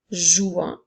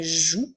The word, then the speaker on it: jouent: lorsqu'il est au pluriel nous allons ajouter les lettres NT qui seront des lettres muettes alors nous ne dirons pas jouant mais bien jouent plus que nous entendons